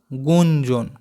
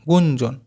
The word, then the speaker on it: গুঞ্জন: আবার দেখো এটা আছে গ এর রস ইয় বর্গী জয় দন্তন্য কি হবে গুঞ্জন গয় রস গু ইয় বর্গী জয় দন্তন্য জন গুঞ্জন এরপরেরটা দেখো হাততালার ঝাতালার